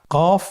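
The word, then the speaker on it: ق: কফ উচ্চারণের ক্ষেত্রে একটু মোটা করে উচ্চারণ করতে হবে।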